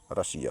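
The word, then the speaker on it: Russia: उच्चारण सा होता है एग्जांपल के तौर पर दोस्तों देखिए एशिया य लिखा ए एस आई ए एशिया यहां आई आया है इसलिए एस का उच्चारण सिटी वाला सा हुआ एशिया यह देख लीजिए आप य देख लीजिए आर U double S आई यहां भी आई आया है यह वाला आई तो यहां रशिया होगा एशिया जैसे य महाद्वीप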